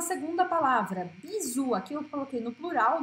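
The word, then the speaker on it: bisous: Então agora vamos à segunda palavra, bisu. Aqui eu coloquei no plural, né, com um S no final, que não se pronuncia. Bisu, ou em francês tem som de U.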